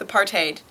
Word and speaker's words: apartheid: you want I think if you're American um you can't go too far wrong with a parted I think that's aiming at being somewhat authentic in afans with without